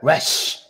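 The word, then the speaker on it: ריש: In the modern Ibrit, they pronounce that Resh.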